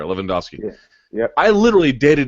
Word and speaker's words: Lewandowski: Okay, it's like the soccer player, Lewandowski.